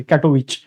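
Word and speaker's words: Katowice: फॉर कॅटोविच ठीक आहे ते डब्ल आय सी जरी असल नंतर त्याच प्रोनन्सिएशन विच आहे कॅटोविच त्याच्याच बरोबर पुढे आहे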